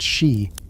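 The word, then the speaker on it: Sìth: They speak of the Cassith, pronounced she, the fairy folk, who are not the tiny winged creatures of Victorian fancy.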